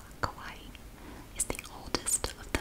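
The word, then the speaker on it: Kauai: it more than once okay i looked it up i'm going to pronounce it the way i was told to pronounce it by youtube somebody on there kawaii kawaii is the oldest of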